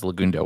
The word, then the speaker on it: Legundo: that waso so that was lagundo with a softer U so uh and it's